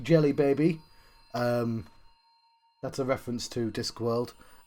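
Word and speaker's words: Djelibeybi: So, Jelly Baby is the name of Egypt in the Discworld novels, but it's spelt D-J-E and the rest of Jelly Baby.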